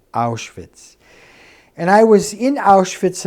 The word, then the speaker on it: Auschwitz: Polish Azari engine and the Germans pronounce it ours wits and I was in